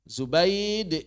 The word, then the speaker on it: Zubaid: Zubaid ibnil Harit bidomi zai. Zainya pakai dommah. Wa ba'daha baun muwahadah. Dan setelah zainya ba titik sat. Muahadah titik sat. maftuhatan dan difathahkan.